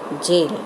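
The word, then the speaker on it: gaol: See the spelling, children? G-A-O-L. Pronounce it as jail.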